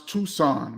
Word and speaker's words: Tucson: week um Jeff Rell says KP is pronounce Tucson what I said tus tuxon what I say